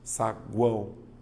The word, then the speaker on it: saguão: tenho a palavra saguão veja saguão a letra U ela é pronunciada separei a letra u é pronunciada então aqui ó vogal